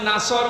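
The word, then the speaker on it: نصر: আছে নামাজে দাড়ানোর পরে এখানে সয়াদ আছে নাসর মানে সাহায্য আর নুন সিন র নাসর মানে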